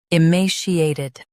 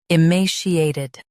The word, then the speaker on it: emaciated: emaciated Now, read the syllables shown on the screen naturally. i ma she a ted emaciated Stress ma and soften she.